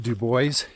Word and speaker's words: Dubois: So that's how it got It is a French name, but it is pronounced Dubois and that was out of retaliation for the governor selecting the name over Tibow.